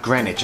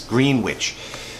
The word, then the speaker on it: Greenwich: is one in PA Greenwich not Greenwich I think I said it wrong last test time it's Greenwich and then Clinton so